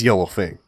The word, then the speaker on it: Yellowfang: She is dark gray and spiky, and her name rhymes with Mellow Mang. It is Yellowfang.